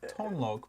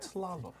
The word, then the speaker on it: Tlaloc: It's like Tonlok, but Tlaloc. Tlaloc. It's two Tlaloc. syllables. Tla and loc.